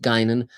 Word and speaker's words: Guinan: But in terms of Guinan, by the way, it's pronounced Guinan, and Gene Roddenberry named